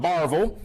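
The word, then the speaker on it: Barbourville: Panthers coming out of Barville, as they pronounce it there.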